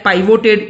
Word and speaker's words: pivoted: Okay, तो सबसे पहले स्टूडेंट्स मैं बताना चाहूँगा कि यहाँ पे जो वर्ड आया है पाइवोटेड, जिसको कई लोग पिवोटेड भी पढ़ते हैं, तो मैं इसको पाइवोटेड ही प्रोनाउंस करूंगा।